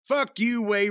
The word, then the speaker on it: Fuquay: again to turn around and get back onto Fuquay Road, which is how we pronounce it now.